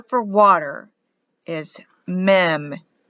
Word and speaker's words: Mem: letter for water is meme m for water cover clean or wipe out it's pronounced mem for the letter m in hebrew which stands for water psalm 119 can be